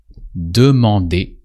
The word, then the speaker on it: demander: Demander. That usually sounds demander. Here you recognize the verb to demand, but in French it's really lighter and demander really means to ask.